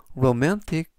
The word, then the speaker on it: romantic: 뜻이 되겠습니다 이번 표현은 로맨틱 로맨틱 로맨틱이라고 발음하시면 되겠고요 이때 강세도 역시 중간 부분에 있는 알파벳 a의 강세가 있습니다 그래서 lowmantick이라고 발음하시면 좋겠고요